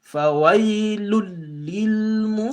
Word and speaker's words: فَوَيْلٌ لِلْمُصَلِّينَ: So you're going to pronounce this lam here and cancel out this tanween. Why? Because the lam comes right after the tanween. فَوَيْلٌ لِلْمُصَلِّينَ.